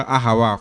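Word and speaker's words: אהב: los idiomas verdad y en hebreo se pronuncia como la palabra ajab solamente lo hago como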